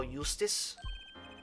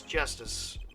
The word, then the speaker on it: Justice: defendant lobby number two apollo eustis that's justice better learn how to say it if you ever want